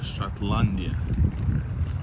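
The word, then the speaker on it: Шотландия: In Russian, Scotland means, not means, the pronunciation is Shatlandia. Shatlandia.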